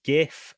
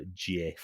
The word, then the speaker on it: GIF: similar sense of humor do we all pronounce it as GIF or is there any sort of preference for GF well the guy who created it his preference is for Jiff yeah but nobody gives